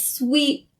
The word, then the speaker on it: sweet: get them mixed up it's sweet as in sweets like candy sweet and so when pronouncing the word sweet keep in mind that it has the long e sound and it's vowel and it's not the short e sound so you can say